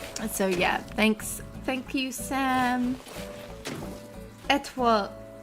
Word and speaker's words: Étoile: Étoile. Étoile. Toi, as in like the French moi.